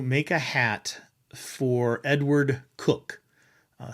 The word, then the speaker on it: Coke: Um, they were asked to make a hat for Edward Cook, uh, spelled C O K E. I know normally we pronounce it Coke, but it was pronounced Cook.